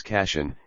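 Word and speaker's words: Kashan: over the brown plain casheon pronounced in persian as cassian is flanked by mountains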